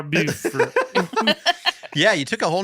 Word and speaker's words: Beaufort: Beaufort. Beaufort. Buford. You pronounce it Beaufort in South Carolina, Beaufort in North Carolina.